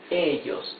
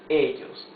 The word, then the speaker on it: ellos: I have underlined the vowels or the syllables that carry the accent in the words. Okay? So here it's ellos, not ellos. No, ellos.